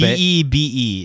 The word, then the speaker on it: Bebe: B-E-B-E is how it's spelled. Bebe. Bebe or Beb. Or Bed. Bebe, like from South Park.